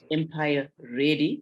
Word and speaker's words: Empire ADY: She's also the founder and strategic director for a mentoring initiative, Empire ADY, pronounced Empire Ready.